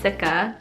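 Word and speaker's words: cica: what that means um this is the scentella sikka is how you pronounce it sikka toner pads so this is how the packaging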